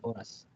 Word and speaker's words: oras: H is silent always in Spanish the H is always silent I get it I get it that's why you got the word but you don't use h the hospital oras Wow so okay now